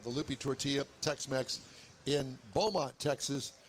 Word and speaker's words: Beaumont: Don't pronounce it Beaumont. Beaumont. Beaumont. It's Beaumont. Beaumont. Yeah, you kind of say it out of the side of your mouth.